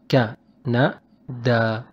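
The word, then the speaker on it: كندا: But here we just pronounce it short ka and short na and long da.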